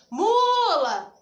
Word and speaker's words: mula: Você vai chamar a palavra, você vai dizer mula. Qual que ficou mais tempo? O mu. Então, o mu é a sílaba tônica.